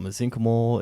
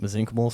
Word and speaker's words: mesenchymal: And then the best is like a lot of folks call it mesenchymal. It's spelled more like mesenchymal, and so I was always kind of confused on the pronunciation. But most of the people who have bigger brains than me call them mesenchymal stem cells.